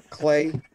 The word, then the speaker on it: Clay: it turned down and pronounced my name right clay see silly goblin yeah